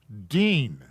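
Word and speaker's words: דין: on line 10 da yawn to judge is dean which is spelled dalid yun yud noon so a judge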